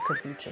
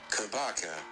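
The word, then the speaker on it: kabocha: I'm gonna ask Google, how do you say kombucha squash? Kabaka. Oh, kabaka.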